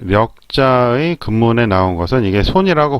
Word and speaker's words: 力: 력 또는 우리말로 할 때 역이라고 발음이 되기도 하죠.